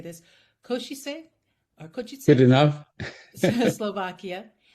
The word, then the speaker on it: Košice: He comes from, you taught me how to say this, Košice or Good Košice, enough.